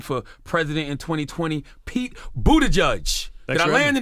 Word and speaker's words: Buttigieg: He's running for president in 2020, Pete Buttigieg.